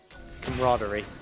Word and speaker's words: camaraderie: Camaraderie? You were almost there. Hit me with it then. Camaraderie. Camaraderie, yeah, right. You said it so wrong that I actually, for a minute, forgot how to say it, but this is that Arky comp coming out.